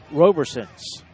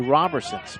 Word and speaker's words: Roberson: robber sentence from the Robertsons my apologies just like Robertson without the T so have fun everyone